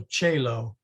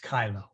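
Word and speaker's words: caelo: hike quit now notice she's using classical so chelo is pronounced kylo but i think you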